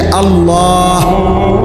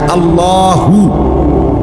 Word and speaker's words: আল্লাহ: শেষে আল্লাহ, শেষে একটা গোল হা আছে, ছোট হা। আল্লাহ মানে আল্লাহু। তো হুটারে শ্বাস ফেলাইলে হলো আল্লাহ।